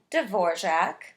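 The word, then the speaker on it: Dvořák: His last name is pronounced kind of strangely for the way it's written, so try saying it with me. Dvorak. Very good. There's kind of a mysterious J in there somewhere.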